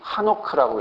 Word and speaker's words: 에녹: 비슷하지만 이제이 모음의 차이 때문에 이렇게 발음하긴 했지만 에녹이라고 우리는 이제 써 놨긴 했지만 실제로는 읽기는 한옥크라고 읽어요.